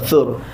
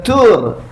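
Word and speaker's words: ثور: Gua Sur, tuan-tuan, Sur. Bukan Tur. Ejaan Melayu memang THUR tapi Tha Waw Ra, Gua Sur.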